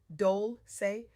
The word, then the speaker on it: Dolce: I'm your host, Dolce, pronounced Dole, say, like sweet softness whispered in French.